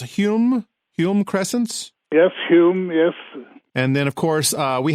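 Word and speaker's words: Hulme: people Robin Hood gardens in London is it pronounced Hume Hume crescents yep whom and then of course we have our own pruitt-igoe in st.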